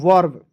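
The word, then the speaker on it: verb: जाएंगे ठीक है चलिए वी ई आर बी क्या पढ़ेंगे दोस्तों वर्ब टी ई आर एम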